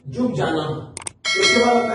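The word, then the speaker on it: Ljubljana: Then आता है Slovenia, Slovenia का जो कैपिटल है वो है, ये एल साइलेंट है, जुबजाना।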